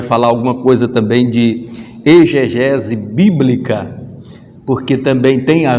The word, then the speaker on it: exegese: Por incrível que pareça, a gente se pronuncia muitas das vezes aí exegese, mas ela não é, porque ela vem do expor, então ali esse X ele não vai ter o som de dizer, não, é exegese bíblica, e a gente